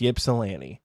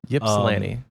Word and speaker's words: Ypsilanti: Ypsilanti Michigan it is spelled yes it is pronounced Ypsilanti Ypsilanti nice yes it's pronounced Ypsilanti Michigan uh so